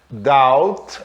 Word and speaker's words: doubt: A letra B, por exemplo, olha, reparem, ela é muda aqui, ó. Doubt, a palavra dúvida, doubt. Lamb, isso aqui é cordeiro, aquela ovelha, né?